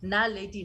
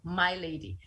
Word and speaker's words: Naledi: They could not, the white kids could not pronounce Naledi for whatever reason, and I could never correct my nephew to say it's Naledi, not My Lady.